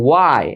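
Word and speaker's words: why: এইস এর পরে ও থাকলে উচ্চারণ হয় এইস এর, না থাকলে সেখানে এইস এর উচ্চারণটা হয় না।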